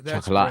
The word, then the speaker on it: Chocolat: That's Chocolate. great. Hatchet Face is the shit. It's pronounced chocolate.